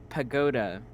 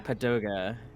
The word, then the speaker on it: pagoda: I had been pronouncing Mhm. pagoda as Yeah. padoga, Yoga.